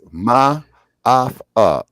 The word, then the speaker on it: Maafa: it's Ma'afa. It's spelled Maafa.